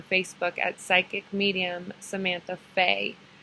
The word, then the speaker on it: Fe: at Psychic Medium Samantha Faye. And that's Santa, it's spelt like Santa Fe.